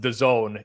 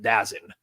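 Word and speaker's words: DAZN: D A ZN oh sure sure sure but pronounced the Zone even though turnoff came off the other night and called it dazin dazen um by the way I just is he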